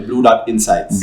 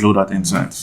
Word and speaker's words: BlueDot Insights: Blue Dot, let me say it properly, BlueDot Insights. BlueDot Insights.